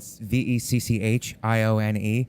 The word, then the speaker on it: Vecchione: I understand that because it's spelled Vecchione. So I understand people's desire to like make it but in Italian the H makes the two C's hard. But you know, I would